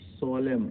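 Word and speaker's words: solemn: और यहाँ देखो सोलेम, सोलेम मीन्स विधिवत, यहाँ भी M आपका साइलेंट है।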